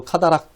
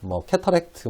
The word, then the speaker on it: cataract: 영어로 카다락, 캐터렉트 이렇게 발음하기도 하는데요.